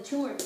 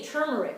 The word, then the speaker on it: turmeric: the body absorb the tumeric better i'm not using fresh turmeric i'm using turmeric powder or i should say turmeric i always pronounce it wrong turmeric so it's going to